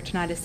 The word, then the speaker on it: tinnitus: Tinnitus, or tinnitus, no matter how you say it, it's an invisible injury commonly referred to as ringing in the ears.